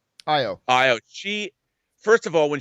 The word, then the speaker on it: Io: plays uh you know i say ayo but i think that's a mispronunciation of the character's name but io she first of all